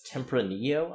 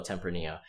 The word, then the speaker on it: Tempranillo: I'm not sure if I'm butchering this pronunciation, but it's Tempranillo, I believe.